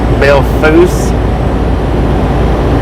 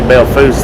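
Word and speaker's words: Belle Fourche: the pronunciation earlier and what everybody was saying is the pronunciation or the way the locals say it is Bill Foose South Dakota I'm sure that's not the correct pronunciation but we was talking about that earlier and uh According to some people in here I think it was Jim that said it that the locals say Bill Foose there how you doing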